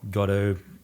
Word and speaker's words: Godot: days ago I downloading cut-o to try it out and and for those who don't know what that is Godot gato how we pronounce it it's an open-source framework